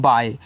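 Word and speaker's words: bye: बी वाई ई, इसको पढ़ते हैं बाय। देखो बी वाई को आप बाय पढ़ोगे, ई लग गया तो उसको ही आप क्या करो, बाय पढ़ोगे, कि ई का उच्चारण यहाँ पे नहीं हुआ है, तो ये आपका बाय है।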